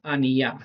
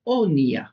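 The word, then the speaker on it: אֳנִיָּה: Si van al diccionario, van a ver que la palabra original no es Aniyah, sino es Oniyah, y se escribe con Aleph, Nun, Yod, Hei. Es decir, se escribe igual, solo que se lee diferente, ¿vale?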